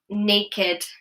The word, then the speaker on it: naked: However, with adjectives, there are some exceptions to the rule. So do watch out for that, for example, naked, blessed, wretched. These do not follow the same rule.